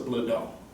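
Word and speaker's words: Blodeau: got an ancestor that the name we pronounce of Bledel it's b-l-o-d-e-a-u okay in Eastern Germany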